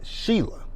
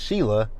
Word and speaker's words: Shela: Now, see, the way her name is spelled is Shela. But it's pronounced Sheila. It's pronounced Sheila, but they spell it She-La.